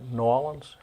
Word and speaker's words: New Orleans: New Orleans? No, I think you say Nolans? Nolans. Nolans. That's the way they do it.